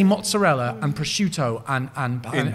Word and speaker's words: mozzarella: I'm going to make it with some mozzarell. Right? Not mozzarella. And And they do this, and it's a genuine thing across so many food stuffs.